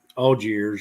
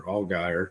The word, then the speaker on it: Allgaier: been involved with is Algiers or Allgaier, depending on how you pronounce it. The correct one is Algiers, right? I think it's Algier. We have a business that advertises in Louisville, Kentucky, spelled the same way. Allgaier. They advertise every 15 minutes, so we don't know how to pronounce it.